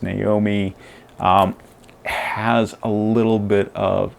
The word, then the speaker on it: Nome: uh tara naomi doyle it looks like gnome but it's pronounced naomi has a little bit